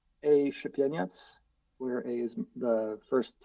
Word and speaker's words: Szepieniec: Yeah, so just for a spelling contest here, it's Szepieniec, which Correct. is Very well done. Szepieniec. That's how you pronounce it. It's like Czepieniec.